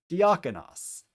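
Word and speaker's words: διάκονος: So the first syllable is D. The next syllable is ak, as in the alpha kappa. The next syllable is on, omicron nu. And the last syllable is os, omicron final sigma. So D, ak, on, os. Put it together a little faster, diakonos.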